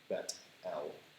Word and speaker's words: Bethel: The word Bethel, the reason I pronounce it that way is because the word is Bet-El, and it means house of God.